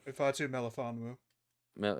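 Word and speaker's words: Ifeatu Melifonwu: pronounce his name I always forget it's ifu ifu Mamu yeah Mamu and Ashton Davis he just pronounce that like nothing yeah look at him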